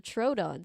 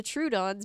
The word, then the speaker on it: Troodon: true the true dawn sorry I've been saying it wrong the true Dons began muttering to each